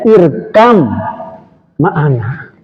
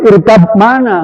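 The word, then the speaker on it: ارْكَب مَّعَنَا: Huruf ba mati dan mimi dia nggak boleh terpisah. Maka Bani harus menyebut ke mim. Paham nggak, Bro? Yang belajar tadi udah nyampe nggak? Jadi bacanya irkam ma'ana.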